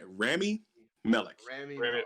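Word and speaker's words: Rami Malek: also randy how do i say his name remy melech there we go okay yes he is uh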